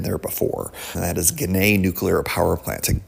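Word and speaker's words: Ginna: Gana is spelled at G I N A. One of the many things in Western New York where you're like, "Yeah, that does not sound like it's spelled."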